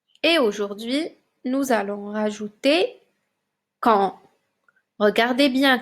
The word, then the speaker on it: quand: aujourd'hui nous allons rajouter quand regardez bien quand ça s'écrit avec le en de maman a n et un D muet on ne le prononce pas quand et ça veut